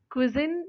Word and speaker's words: cuisine: क्विजिन या क्विजिन इसका pronunciation है CUISINE.